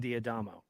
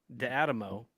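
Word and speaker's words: D'Adamo: about Master Sergeant John diadamo uh he was the flight engineer on that aircraft and mind you I used to pronounce his name de Adamo because that's how it looks because he has an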